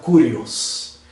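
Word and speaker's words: κύριος: Pues la palabra Señor en el griego se pronuncia Kurios.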